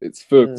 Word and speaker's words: Feux: it's Oh like yeah, Faux. And then oh yeah. before because it's originally a French name, so it's Faux because Mm. I make music in French as well. And Faux like means fire basically.